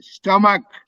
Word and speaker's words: stomach: feel Max stomach and the CH c h is pronounced as K stomach fell filled which field